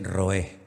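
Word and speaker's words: רועה: La palabra pastor en hebreo es roé, o roé, que no pronuncian la R.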